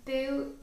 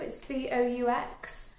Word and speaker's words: Boux: And the first thing that I bought was from Boo Avenue. I think it's called Boo. It's Boux. I think that's how they say it on the advert on TV.